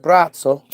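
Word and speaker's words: Braco: better known as Bratzo. B R A C O, but it's pronounced Bratzo.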